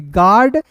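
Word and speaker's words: guard: जी यू ए आर डी को पढ़ेंगे गार्ड।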